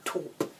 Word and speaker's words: Taupe: nice for autumn actually, and it's 725 Tantalising Taupe. That's how you pronounce it.